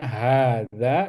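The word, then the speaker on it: هذا: Jadi bacanya hadza. Jadi h-nya harus panjang, dza juga harus panjang ya.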